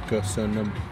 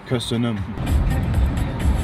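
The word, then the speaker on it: Köszönöm: Kösönöm. Kösönöm.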